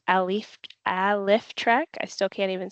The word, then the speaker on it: Alyftrek: how to pronounce it it is pronounced alif alrek I still can't even